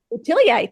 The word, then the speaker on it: Boutilier: the uh the goldie uh how do you pronounce her last name boutilier boutilier thank you Goldie boutilier I looked her up